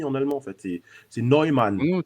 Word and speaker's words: Neumann: C'est Neumann. Non, C'est Newman, mais ouais, c'est Neumann, en fait. Hein, si on veut bien le prononcer.